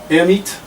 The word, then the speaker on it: Hermite: and i speak french air meet right the the if you're gonna pronounce it in the french way uh the h is silent the er is a sort of an air like hot air very appropriate for the